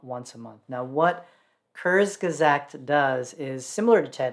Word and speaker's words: Kurzgesagt: whose name i really hope i'm not brutally mispronouncing because it's a german word it's kurzgazakt so kurzgesagt in a nutshell is you know a place